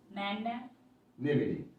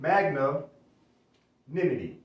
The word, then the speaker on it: magnanimity: So say, pronounce it as two words, magna, Magnanimity.